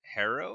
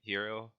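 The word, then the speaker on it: Herro: Was it Harrow? Ty Ty Jerome. No, Tyler Harrow. Guard of Kentucky, right? Hero.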